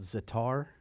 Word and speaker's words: za'atar: Today, they actually have a spice called za'atar.